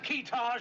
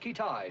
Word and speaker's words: Keetage: Have we located this fellow Keetage yet? Pronounced Kitai, sir.